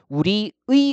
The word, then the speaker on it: 우리의: 그래서 조사의는요. 애로 발음하는 것도 허용을 해준다는 거예요. 그래서 원칙적으로 우리의 이렇게 발음하는 것 맞고요. 그 다음에 애로 발음해서 우리의 이렇게 발음하는 것도 허용을 해 준다는 겁니다.